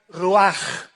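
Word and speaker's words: ruach: hebrea uach con ch al final que se pronuncia rúas que se traduce espíritu pues la palabra espíritu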